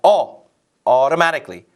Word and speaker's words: automatically: 앞에 내용을 그대로 받을 때 it will automatically 우리가 오토 그러는데 영어 실제 발음은 오가 아니라 automatically 이 T 발음도 리을 발음처럼 발음되죠.